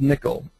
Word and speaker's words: N1QL: check it out um it's called nickel uh n1ql and they pronounce it nickel it's kind of a combination of nonf normal form and uh SQL this is in beta